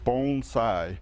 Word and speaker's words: bonsai: you pronounce this art it's bonsai bones like a bone like your elbow bone inside bone size bonsai and another misconception is